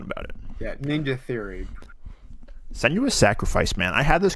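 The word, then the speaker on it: Senua: Okay, so you've also been playing a Setsuna's. Is that how you say it? Senuous.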